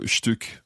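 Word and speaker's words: Stück: example einstein a piece of cake okay so shtuk means both slice and peace depends in what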